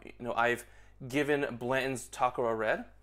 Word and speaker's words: Takara: And so really to wrap this shorter review up, you know, I've given Blanton's Takara Red, or Takara Red if you want to be more, pronounce it more appropriately in Japanese.